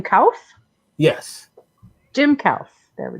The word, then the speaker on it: Kouf: Do we pronounce his last name Kouf?